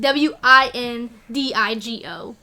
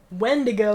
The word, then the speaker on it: Windigo: instead of the E the I at the beginning like w-i-n-d-i-g-o emphasis on wind because it'd be fast so it wasn't wendigo it was wind wind and I kind of